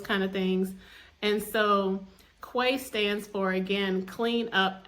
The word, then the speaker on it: Cuay: that's that acronym and I felt like saying Quay and way would be a good way for others to understand how to pronounce the word cuz sometimes people get a